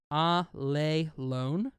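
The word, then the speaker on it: ἀλλήλων: It's Greek in the Bible obviously and it's pronounced ah lay alone and it's just one word even though it's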